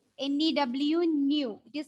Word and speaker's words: nu: can be represented by nu. It is not V, it is a Greek symbol, and we can pronounce it nu. N-E-W, nu.